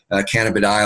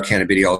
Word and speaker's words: cannabidiol: We really, for those folks who aren't familiar with CBD, it's basically an abbreviation for cannabidiol or cannabidiol, depending how you want to pronounce it.